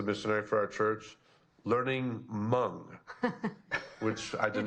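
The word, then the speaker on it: Hmong: And as a missionary for our church learning mung, which I did not expect, we were pretty uh surprised that if you guys know this language, it's H M O N G. The H is silent.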